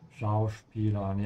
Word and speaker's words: Schauspielern: Schauspielern. Yeah, make sure you pronounce the S here like a sh sound because it comes before a P.